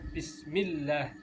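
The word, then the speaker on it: بِسْمِ اللَّهِ: tanda tasjid di atasnya huruf lam jalalah jadi bacanya Bismillah ada penekanan Hai ada penekanan atau double gitu jadi bacanya bismillah bismillah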